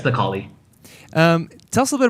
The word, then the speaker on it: Necalli: It sounds like Necalli. Yeah, it's Necalli.